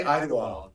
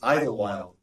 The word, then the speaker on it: Idlewild: the wild okay listen whenever I say ey wild because that's how I've always said it how do you think it's spelled i d e w i l d it's Idle Wild Idle Wild Idle Wild there's